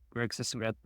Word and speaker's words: Sisengrath: I'm Chris Detzel, and today we have special guest Greg Sisengrath. Greg, how are you? Did I say it right? Yeah, you did. Greg Sisengrath.